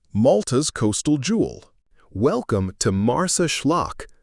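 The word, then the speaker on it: Marsaxlokk: Welcome to Mars Schllock, pronounced Mars Schllock, Malta's most Instagrammable village and a living postcard of Mediterranean charm.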